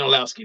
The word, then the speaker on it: Orlovsky: I can't pronounce his name correctly. Dan Orlovsky, thank you.